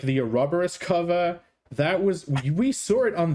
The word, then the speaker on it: Ouroboros: Ouroboros. Yes. Even if you pronounce it correctly, Ouroboros, people still would not understand what you're talking about.